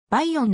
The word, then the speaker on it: バイヨン: 中央付近にある倍音の呼び方で広く知られているがクメールもの発音ではば 4 の方が近いばは美しいと